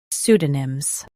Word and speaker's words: pseudonyms: pseu do nyms pseudonyms Emphasize pseu and keep do soft. The P is silent.